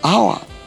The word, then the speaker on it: hour: have in these words an hour now the age in our is silent the same applies to